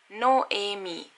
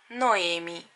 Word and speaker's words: Noemi: And the second, it is very similar to Doremi, Doremi, but you don't say do, you say no, and re without an R, it is only A, so you say Noemi, Noemi, Noemi.